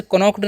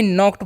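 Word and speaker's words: knocked: तो यहां पर के एन ओ सी के ई डी लिखा हुआ है। तो इसे कनोक्ड नहीं पढ़ना है। इसको भी नॉक्ड पढ़ते हैं क्योंकि यहां पर के साइलेंट होता है।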